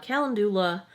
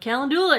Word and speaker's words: calendula: I've heard people say like calendula. I think I'm putting the emphasis on the wrong syllable.